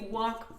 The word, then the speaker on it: walk: on the left, Donc, si vous longez l'école, to walk past the school, alors le L ne se prononce pas évidemment. D'accord? C'est pas you walk. Non, c'est you walk past the school.